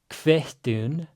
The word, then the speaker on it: kvittun: So vilt thu kvittun, again, double T's. You all know what that means. Pre-aspiration before it.